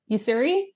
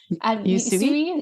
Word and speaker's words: Usui: I'm trained in like the traditional you I can never pronounce it. Usuri Reiki. Usui?